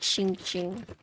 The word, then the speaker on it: Xinxing: How do I pronounce my name? It's like xinxing. S-H-I-N-G. Xinxing.